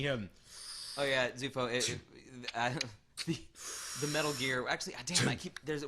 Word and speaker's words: Metal Gear: David it's it's actually not metal gear it's metal gear the emphasis is on the second word why is that it's just the way it's written if you need to think about it just remember Richard Gear Richard Gear I'm looking